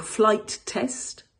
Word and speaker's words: Flight Test: Quand on le prononce, il faut marquer une micro-pause entre les deux mots, donc flight test.